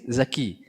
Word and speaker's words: Dzaki: But for example, contrary to us, My name is Dzaki. Dzaki, Dhal, with Dhal. Or you can pronounce it Zai as well, no problem.